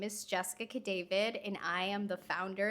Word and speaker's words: Cadavid: So it's Cadavid. Gotcha. Yeah, I would have said Cadavid, which Yeah, I'm sure you've heard I before.